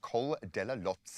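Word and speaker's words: Col de la Loze: So today brings a brutal mountain stage featuring the feared Col della Lotse. And go and have a look. It's spelt D-E-L-A Lotse with a Z-E, and see how many scalps this one has claimed.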